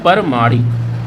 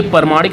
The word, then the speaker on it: प्रामाणिक: यहाँ पे लिखा हुआ है परमाणिक। देखिए परमाणिक लिखा है, परमाणिक, जबकि ये परमाणिक नहीं होता, ये प्रामाणिक होता है, आ की मात्रा होता है, ये आप ध्यान रखिएगा।